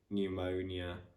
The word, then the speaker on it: pneumonia: So for example, in the words pseudonym, pneumonia, psychology, psychiatrist, pterodactyl, pterodactyl, pterozool, pterozool.